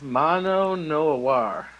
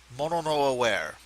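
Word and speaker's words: mono no aware: uh best short story Mano Noir by Ken l or kenlou or uh actually and I'm not making F of you it's pronounced mon no aware by kenl and it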